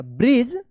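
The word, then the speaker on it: bridge: यहां पे डीजी एक साथ है तो क्या उच्चारण होगा? ज उच्चारण होगा। ब्रिज they talked for अ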